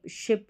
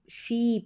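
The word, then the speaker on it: ship: का उच्चारण अलग है इनको हम कई बार यह जो शिप रहती है इसको शीप करके भी पढ़ा पढ़ दिया जाता है जो कि गलत है इसको शिप पढ़ेंगे शॉर्ट साउंड रहेगा आई का और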